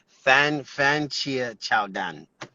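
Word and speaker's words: 番茄炒蛋: It's kind of pronunciation is pretty hard, but it's kind of Fan Chia Chow Dan.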